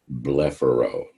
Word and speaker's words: blepharo: medical term that refers to the eyelids it's pronounced blepharo for example if you have the condition of